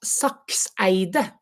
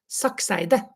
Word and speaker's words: Sakseide: to say it, because in Norwegian we practically say all the letters, and an e is not an e, it's an e. So my name is Sakseide. Sakseide.